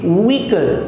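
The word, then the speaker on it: vehicle: तो इसको हम बोलेंगे व्हीकल। आपको एच को नहीं प्रोनाउंस करना है, व्हीकल।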